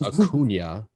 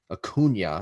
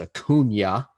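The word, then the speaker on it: Acuña: so eloquently corrected him it's acuna akuna i mean you hear his name if you're a braves fan you should be able to say his name you hear it a million times idiot it's a cunya ronaldo cunha jr those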